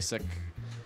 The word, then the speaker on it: Sikh: why they when uh they've been saying that it could be pronounced either way that is why uh-huh it was originally sick then it got changed for them to seek kind of and then change back to sick but people still call